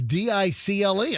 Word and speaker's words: Dicle: Dickel University appears to be a pretty big university in Turkey. Is it pronounced Dickel? Yes. It's Dicle.